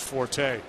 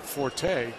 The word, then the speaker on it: forte: He picked up on the fact that I said forte, and because it's from French, right? F-O-R-T-E, fort.